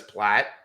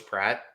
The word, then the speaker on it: Pratt: reason I don't say his name is because my brain says Platt, and I know it's Pratt, so I just don't want to screw it up.